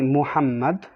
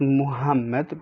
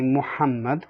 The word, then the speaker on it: Muhammad: have the letter ha ha is basically a heavy h so for instance when you have a name like muhammad like prophet muhammad peace be upon him you say muhammad not muhammad but you say muhammad